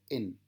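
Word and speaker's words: ἐν: Eso se pronuncia en, porque tiene un espíritu suave, ¿verdad?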